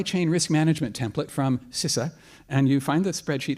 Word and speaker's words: CISA: We actually pronounce it CISA. CISA, thank you. I've been corrected.